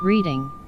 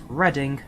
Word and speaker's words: Reading: It's Reading, not reading, Reading.